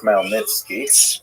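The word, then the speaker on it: Khmelnytsky: It's actually pronounced Nitski uh with a guttural at the beginning.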